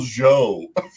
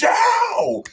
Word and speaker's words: Zhao: they did that for the kid keeps calling him the wrong name admiral joe it's zhao saka is so good